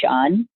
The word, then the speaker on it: Shaan: you here my name is Shawn it's spell actually SH á ñ and I live in